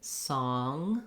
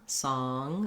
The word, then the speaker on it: song: So a good one for this would be I saw a song, because when you say saw, often it's easier for you to get that rounding and to make that ah vowel. And then when you have to close to the NG, song, song, again, you have that nasal lifting of the tongue for the NG sound.